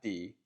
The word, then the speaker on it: 的: This is the character, and it's pronounced de, not de.